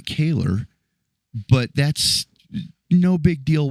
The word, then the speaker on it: Kahler: And man, did he nail absolutely everything about it, except he pronounced it Kahler and not Kahler.